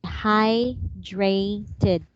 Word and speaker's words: hydrated: the word we say hydrated hydrated hydrated yes as long as the words have Ed some of them needs to be pronounced like it hydrated hydrated landed